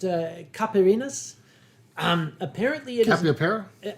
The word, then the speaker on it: caipirinha: They were going to introduce me to, I believe it's pronounced Caipirinhas.